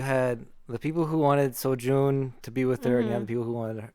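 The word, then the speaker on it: Seo-jun: wait how do you say his name again sojun his team was like the bullies like the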